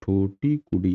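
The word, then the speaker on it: தூத்துக்குடி: और 13वां पोर्ट जो हमारा मेजर पोर्ट है वो है ठूटीकुडी, बोलते हैं ठूटीकुडी, या स्पेलिंग एक बार चेक कर लीजिएगा आप, ठूटीकुडी, ठीक।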